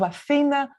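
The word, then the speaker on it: Αθήνα: The city of Athens is named after Athena, and Athena is how we pronounce Athens in Greek, the goddess of wisdom,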